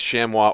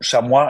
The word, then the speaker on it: chamois: yeah there we go shamwa I think is how it's pronounced the proper way to pronounce it in French which is the work it's a French War okay so we're going